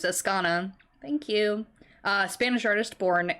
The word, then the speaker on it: Azcona: I am Azcona. butchering names. Azcona.